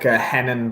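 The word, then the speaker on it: Renan: I always feel real poncy when I pronounce it with a H and not an R. Do you know what I'm saying? I know. That's how you're supposed to pronounce it, aren't you? Yeah, like Hennen Barao.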